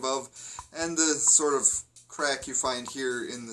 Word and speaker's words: craic: d h e well in this case crack is spelled C are a I see and there's a big